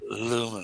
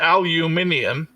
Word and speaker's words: aluminium: Aluminum. No extra I. It does look funny with the I. Yeah, that ain't right. That ain't right. Yeah, we know that. Nice try. That's how I pronounce it. Aluminium. And now you're adding like Al Green to it. Aluminium? I mean, Al, come on. It's just aluminum. You know what I'm No, saying? it's aluminium. Aluminium.